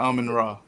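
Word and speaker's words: Amon-Ra: Amon St. Brown is the guy from the Lions, right? Ain't that how you pronounce his name? Yeah, Amon Ra.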